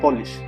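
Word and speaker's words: police: जैसे अगर मैं बोलूं कि पुलिस, जिसको आप पुलिस बोलते हो, इसका प्रोनाउंसिएशन होता है पॉलिश, कि पुलिस इस मामले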